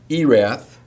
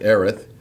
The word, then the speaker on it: Erath: Erath instead of Erith. Not Montague is actually pronounced Montag in Texas.